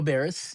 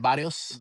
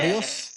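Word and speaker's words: Barrios: Mario Barers.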